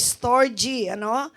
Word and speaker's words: storge: Ang pronunciation po niyan ay storge, which means family devotion or love for family, parents, and children.